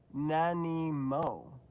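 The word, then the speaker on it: Nanaimo: Denise lives and the snack I suggested is pronounced nanimo oh nanimo that's cool people being polite what a concept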